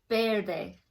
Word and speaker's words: verde: here we have green starts with a V but it sounds like it starts with the be fair they Verde and then we have